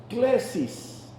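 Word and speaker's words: κλῆσις: Vocación viene de una palabra en griego que se pronuncia klesis.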